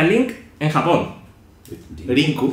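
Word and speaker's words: リンク: ¿Cómo se pronuncia Link en Japón? Rinku. Rinku.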